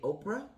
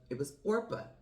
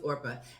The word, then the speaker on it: Orpah: And I want to say Oprah. I want to say her name was Orpah. Her name was Orpah.